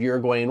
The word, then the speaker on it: Uruguay: For the record, it's pronounced Uruguay from all the people I heard pronounce it in the webinar I watched. These were people from there. So it's not Uruguay or Uruguay or Uruguay or whatever. I'll do my best to say it correctly too. With that said, the proper Spanish pronunciation is Uruguay.